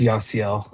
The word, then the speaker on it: Yasiel: It's Yasiel.